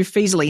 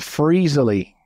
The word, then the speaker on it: Feezily: exactly fantastic all right so let's dive into feasley now am I saying that right is there a better way to say that that's right perfect so some people mispronounce and call it freezly it's like oh that sounds like a bad